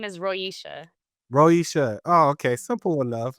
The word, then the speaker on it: Roicia: hear it, like, okay, Roicia, easy enough. Usually with Black folks, I gotta be like Moesha, and then with Latino or Hispanic folks, I gotta be like Alicia because of the way it's spelled.